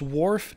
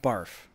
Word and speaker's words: wharf: don't okay all right it's wharf not barf and i didn't even